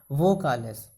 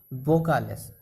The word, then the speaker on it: vocales: Okay, लेकिन Spanish में हम लोग इसे वो नहीं, वो उच्चारण बोलते हैं। लाइक इंग्लिश के B वाला बी फॉर बॉय वाला बी, हम लोग जो B फॉर बॉय बोलते हैं वैसे बी, वोकालेस।